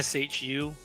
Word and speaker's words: Xu: Yeah, it's actually pronounced sh hu. Shu is it's an X, but you pronounce sh when you write in Mandarin.